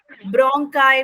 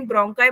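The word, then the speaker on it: bronchi: Trachea के बाद ब्रोंकाई में जाता है। ब्रोंकाई क्या होता है? कहीं ब्रोंकी बोल देते हैं, कहीं ब्रोंकाई बोल देते हैं, बस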